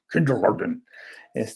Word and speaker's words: Kindergarten: Que en alemán, porque el señor es alemán, debe haberse pronunciado más o menos así, pero así como más regañón, kindergarten.